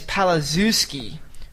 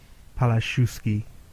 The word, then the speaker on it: Palaszewski: Yeah, I think in Eastern Europe they pronounce Z as a H. Palaszewski. I think it's that SZ combination, like Krzyzewski.